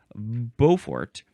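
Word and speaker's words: Beaufort: go look up the Bowfort scale because of course I read this a very long time ago. Uh let's see. B AU. That is how you spell Bowfort.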